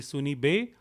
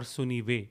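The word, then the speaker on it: सुनिबे: It could be Sunibe or Sunive. B and V can interchange in Awadhi language.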